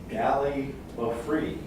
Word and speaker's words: gallimaufry: And so today's word is gallimaufry. Gallimaufry. So it's spelled Gallimaufry.